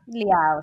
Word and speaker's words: Liao: Is it Liao? Oh, it rhymes with Italian word for ciao, like goodbye. So Liao. Nice. Yeah. Liao.